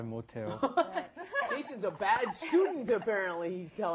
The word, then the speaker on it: 못해요: Now, notice that pronunciation may sound a little strange. You've got 못, which has an S at the bottom, followed by the H, 하다. Why does it come out te?